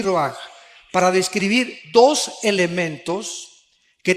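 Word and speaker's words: רוח: Aquí se usa otra palabra hebrea, que se escribe ruach, con R de Raúl, A-C-H, se pronuncia ruach.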